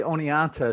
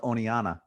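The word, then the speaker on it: Oneonta: interesting, because when I say Oneanta, sometimes I call it, well, locals will call it Oneana. We won't pronounce the T, but it'll give it the NA at the end instead.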